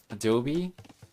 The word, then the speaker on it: Adobe: Who on earth would guess that it's supposed to be pronounced Adobe? In Spanish, we just call it Adobe.